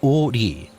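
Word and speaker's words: 오리: Its name derived from the fact that it stretches for 5 ri, pronounced o ri, which is equivalent to 2 kilometers.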